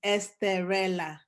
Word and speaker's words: Esterella: And Esterella is, I know people spell it Estrella. That's the Spanish version, but mine is Esterella. So it's Esterella.